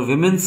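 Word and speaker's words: woman: तो अच्छा, जो पहला और दूसरा है इनकी प्रोनाउंसिएशन में भी डिफरेंस होता है। वुमेन सिंगुलर को बोलते हैं, विमेन प्लूरल को बोलते हैं, ठीक है।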